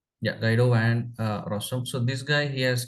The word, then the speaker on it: Guido van Rossum: The founder of Python, his name is something Guido Ware Awesome. Okay, if I pronounce it correctly, yeah, Guido Van Rossum.